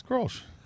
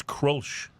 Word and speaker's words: Grolsch: How about Grolsch or Krolsch or Grosch, which is pronounced... It's Grolsch. Actually, it's not. That's the mispronunciation. Then what is it? It's Krolsch.